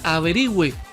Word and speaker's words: averigüe: La función de la diéresis es recordar que se pronuncia la U.